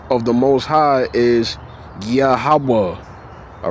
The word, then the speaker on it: Yahawah: Whenever you see the word Lord in caps, it's a name of the most high, Yahawa.